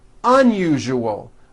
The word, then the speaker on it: unusual: Okay, now try unusual. Un-u-ju-ol. Unusual. Like that.